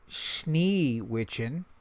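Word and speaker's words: Schneewittchen: It's actually Sneewitchen. Wait, this actually might be the original pronunciation.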